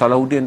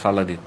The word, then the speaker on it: Salahuddin: hingga satu-atun Islam yang di barat ada gelaran salahin dia nak pronounce Salahuddin tak boleh dia pronounce salahin itu yang saya cerita